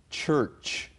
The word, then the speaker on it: church: If the sound of CH is ch, like in church, which has 2 CHs, and both of them are pronounced ch, church, then we know, finally, it's an English word.